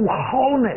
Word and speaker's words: honest: 诚实的，我是一个诚实的孩子，但你没发现我没读 honest？